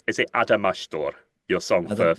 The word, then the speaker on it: Adamastor: But anyway, you are here today to talk about your, again, am I pronouncing it right? Is it Adamastor, your song I for don't- Festival da Canção?